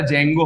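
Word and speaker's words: Django: কি বিষয় ডেটাবেস চালানোর জন্য এস কিউএল দরকার জ্যাঙ্গো বলে একটা ফ্রেমওয়ার্ক আছে পাইছে ঠিক আছে ডি টা কেন যায় আমি জানিনা উচ্চারণটা জ্যাঙ্গো হয় ডি জ্যাঙ্গো আরেকটা হচ্ছে তোর ওই ফ্লাস্ক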